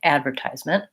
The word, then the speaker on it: advertisement: a little bit there they say it more like advertisement long and fast so I mark stress that way whereas the British will say advertisement advertisement and they will stress the second syllable and that makes their at at the beginning more like an advertisement advertisement so when we stress syllable we typically use a clear vowel on that syllable and we tend to use reduced vowel sounds on the unstressed syllables because they go by